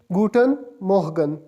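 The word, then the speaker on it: Guten Morgen: गुटन मोहगन। गुटन मोहगन। गुटन good के लिए निकला है और मॉर्निंग के लिए मोहगन।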